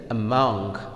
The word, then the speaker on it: among: Similarly, among, among, among. So, the stress will fall on the mong, because this is the second syllable.